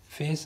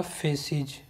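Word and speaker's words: feces: Okay, the colour of human फेस, फेस नहीं है sorry, ये होता है फेसिज, FACES, फेसिज, जो मलमूत्र होता है हमारा फेसिज।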